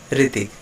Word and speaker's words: ऋतिक: इस समझ पाएंगे कि जो री का जो एक उच्चारण होता है उसमें क्या फ़र्क होता है। जैसे मैं यहाँ पर एक नाम लिख रहा हूँ ऋतिक, इसको हम कैसे पढ़ रहे हैं? ऋतिक।